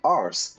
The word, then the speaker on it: arse: Americans say ass. Now if you're in Britain or if you're in Ireland, they'll say arse, A-R-S-E.